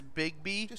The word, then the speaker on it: Bigby: that we're playing as bigby like big bad big b except his name is spelled b-i-g-b-y i think that's pretty